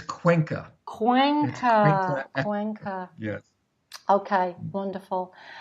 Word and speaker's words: Cuenca: do you say that Dave please it's it's Cuenca quaint oh yes okay wonderful and he's living